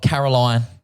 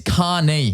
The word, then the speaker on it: Caoirne: It's not Caroline. It's not corn. It's not corn. It's not Caoirne. It's not Celine Dion. It is Caoirne.